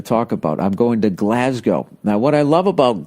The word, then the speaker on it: Glasgow: And when I finally went, I thought it was Glasgow. So I wasn't saying it right. Then I went there and I heard how they said it, Glasgow.